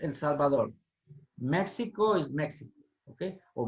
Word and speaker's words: El Salvador: It's not El Salvador, okay? It's El Salvador.